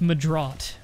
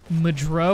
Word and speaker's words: MahDryBread: Like my real name is Mah-Dry-Bread. And when you live in a French-speaking country like I do, everybody thinks that's Mah-Dry when they read it.